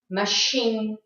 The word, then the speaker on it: machine: And don't think that every word that has a CH has a ch sound. That's not true. And these are the words you have to be more careful about, like the words chef, Chicago, machine, and parachute.